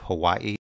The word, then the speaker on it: Hawaii: Excuse my Hawaiian pronunciations. Some people pronounce the W as a V, so instead of Hawaii, they pronounce it Hawaii.